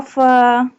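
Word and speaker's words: فاء: Fa pronounced from the edge of the two top front teeth touching the inside part of the lower lip.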